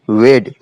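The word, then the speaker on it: weighed: था यानी ठग था एंड वेड इसे आपको जो है वेड ही पढ़ना है वे का मतलब होता है तौलना उसकी सेकंड फॉर्म होती है वेड यहां पे जी और एच जो है साइलेंट है तो उसने जो है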